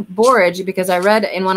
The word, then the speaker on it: borage: we had no rain i think it's pronounced barrage you hear a barrage but i like borage because i read in